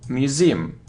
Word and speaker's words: museum: pronounce age wicka-wicka-wicka-wicka look it isn't museum now museum so you see that the stress is on the second syllable Museum museum it isn't